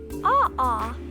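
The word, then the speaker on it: ʻaʻā: the first is pronounced AA and the other is pronounced pooy Hoy both words are Hawaiian AA has a rough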